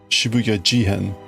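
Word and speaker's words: 渋谷事変: Because that's the pronunciation. Shibuya Jihen.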